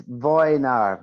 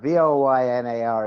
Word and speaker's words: Wojnar: It's Wojnar. Voynar is the pronunciation.